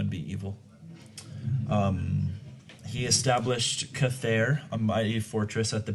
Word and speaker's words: Chathair: And Cathair is spelled Chathair.